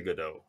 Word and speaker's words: Godot: switch to gdo uh it's pronounced gdo because it comes from the French p uh waiting for gdau and uh I was